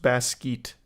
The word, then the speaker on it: Basquiat: It's pronounced Basquiat.